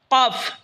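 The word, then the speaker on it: كاف: এরপর হলো কাফ, জিহ্বার আগা থেকে একটু আগে বাড়িয়া তার বরাবর উপরে তালের সঙ্গে লাগে উচ্চারণ হবে কাফ।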